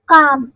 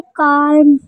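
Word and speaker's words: calm: जैसे कि for example काम हम ऐसे नहीं पढ़ेंगे काल्म काल्म तो नहीं पढ़ेंगे ना हम क्या पढ़ेंगे काम काम मींस फर सकून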